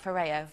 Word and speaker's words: Foreo: Now, Foreo, am I saying it right? Foreo. Foreo. I am.